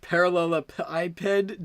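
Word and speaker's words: parallelepiped: that's it yes it's spinning thing it's pronounced parallel ipid dumbass shut up oh this one was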